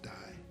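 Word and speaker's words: δεῖ: for must is die spelled d-e-i but pronounced die and that word simply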